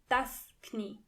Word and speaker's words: Knie: Knee means das Knie. And in German, you have to pronounce the K. das Knie.